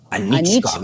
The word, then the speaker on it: Anichkov: started in, in 1913 when, how do I pronounce this person's name? Nikolai... Anichkov.